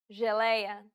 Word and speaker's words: geleia: The letters J and G can sometimes be pronounced like Je. It sounds like the S in pleasure. The problem arises when speakers